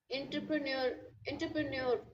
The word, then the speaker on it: entrepreneur: I had entrepreneur. Okay. It's not you have to make like this. Entrepreneur. Entrepreneur. Entrepreneur. Entrepreneur. Antra. Yeah, it's not an N. It's a entrepreneur. Entrepreneur. Entrepreneur. Not N. On.